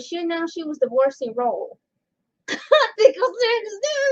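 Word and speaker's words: Rolle: the 23 years Jeffrey Ro senior now I'm sorry if I said his last name wrong is pronoun well spelled r o l l e like ro ro jelly Ro so yeah yeah jelly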